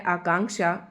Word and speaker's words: आकांक्षा: आकांक्षा इसमें भी हम क बोलेंगे क्योंकि यह जो यह वाला अक्षत है इसे हम क और श के मेल से बनता है। यह संयुक्त व्यंजन है।